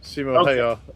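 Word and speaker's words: Simo Häyhä: Simo Hayar. It's how you pronounce it, yeah.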